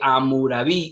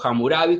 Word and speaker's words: Hammurabi: dice que el famoso código de hammurabi o hammurabi como algunos pronuncian es hasta el momento